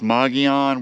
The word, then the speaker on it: Mogollon: And I think it's pronounced Mogollon.